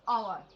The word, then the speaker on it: hour: First letter from H, which is H is also silent, and we will pronounce hour, है ना, यानी घंटा, है ना.